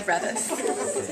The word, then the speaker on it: Revis: It's actually Revis. Yeah. A lot of people here, I like hate to correct them, but it's Revis.